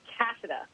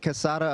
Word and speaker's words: Cassada: just wanted to say thank you Josh uh cassida right that's right that's the right pronunciation and no you've got it I get Casada a lot which actually sounds cooler and there's